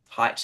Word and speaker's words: Haidt: Jonathan Haidt and the people at Fire and the various other people, I think you say his name Haidt. He doesn't like being called Jonathan Haidt.